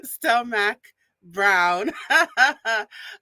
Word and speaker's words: Stelmach-Brown: And no, Mac, I remember. Sarah Stelmach-Brown. She just gave me a thumbs up backstage.